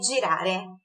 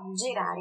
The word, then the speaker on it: girare: Girar é girare. Só a pronúncia do G que é explosivinha, então, ó, girare.